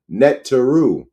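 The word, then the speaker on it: Neteru: n Valley comitic ancestors the Naru pronounced netu are indwelling differentiated zones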